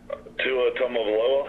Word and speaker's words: Tua Tagovailoa: 28-game starter Jalen Hurts will duel with sophomore, how do you pronounce this guy's name? Tua Tagovailoa.